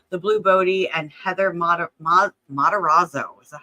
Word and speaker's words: Matarazzo: The Blue Bodie, and Heather Matarazzo.